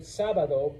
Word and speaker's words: sábado: But the word sábado breaks the rule, so we put an accent mark on the A, so now you know to say sábado, sábado, okay?